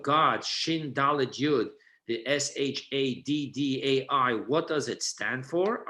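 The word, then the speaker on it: שדי: So to spell it out to you, the second name is not Shakai with a K, but rather with a D. Shadddi.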